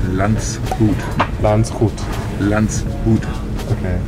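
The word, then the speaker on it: Landshut: Well, the town is actually called Landschut.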